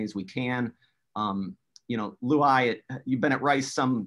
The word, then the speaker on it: Luay: Yeah, it is Luay. So this is an Arabic name. The truly correct pronunciation is Luay. Nobody can pronounce it like that, but I say Luay. So Luay is the right way here.